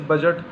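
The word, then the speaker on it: budget: D silent वाले देखिए जैसे बजट, यहाँ पे डी साइलेंट है।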